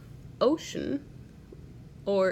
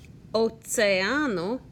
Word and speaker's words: oceano: Also notice that Oceano, I pronounce the E and the A. Every vowel gets its own syllable.